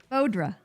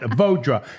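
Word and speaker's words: Vaudra: Bodra. Vodra. Why can't I say that? Because the way you spell itch. That's right. That Vodra.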